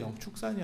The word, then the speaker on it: 영축산: 그때 보면 축 발음으로, 그러니까 조선 초기에도 벌써 축 발음이었었던 거예요.